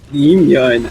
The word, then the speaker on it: Yimyeon: The spike is down, being planted by Yimyeon. Yimyeon. Actually, I think you pronounced it right this time.